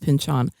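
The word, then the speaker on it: Pynchon: It's first of all, it's pronounced Pinchon.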